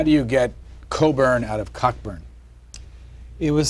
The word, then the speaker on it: Cockburn: I'm not responsible, but all Coburns carry this mission through life: is your name is spelt Cockburn, but you pronounce it Coburn.